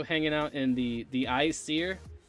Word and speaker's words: Aesir: in the the icier its AE s ir I actually thought you pronounced that the Aesir because I was like dude you could have like a nerd line seemed like the BC and thus easier but it's the icier so if they had